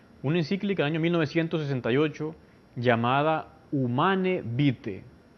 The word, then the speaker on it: Humanae Vitae: del año 1968 llamada humane vite se escribe en castellano humanae vitae pero se pronuncia human evite tuvo esa encíclica varias